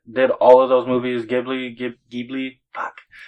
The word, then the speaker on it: Ghibli: because I don't know I believe it's pronounced Ghibli I apologize to anyone who might be offended if I messed it up studio Gibby but I do believe it's Ghibli GHI bli Ghibli but I feel